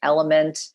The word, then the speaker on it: LMNT: there are other brands like element that's spelled lmnt that's another good quality product